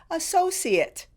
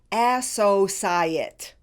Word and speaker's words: associate: The noun form of this word is difficult, primarily because of the third syllable spelled C-I. So let's start there. The C can be pronounced either as an SH sound or an S sound.